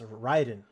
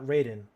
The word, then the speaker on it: Raiden: play as snake or you play as Ryden not Raiden they pronounce it Ryden because it's a I mean I guess it's a Japanese game right um sons of